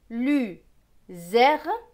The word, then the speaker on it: luzerne: Z avec ER, ER va se prononcer R parce qu'il n'est pas à la fin d'un mot. Donc Z et R se prononcent zer. N et E, ne. Donc ce mot va se lire luzerne, luzerne.